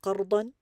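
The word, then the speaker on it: قرضا: By the way, that n sound at the end of qardan is just a rule in Arabic. Sometimes it's pronounced, sometimes it's not.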